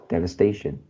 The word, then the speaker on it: devastation: as the first syllable you pronounce as d so should be their devastation devastation we can avoid some